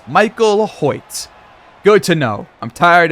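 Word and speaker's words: Hoecht: by the way I just checked it it's pronounced hoit Michael hoit good to know I'm tired of saying it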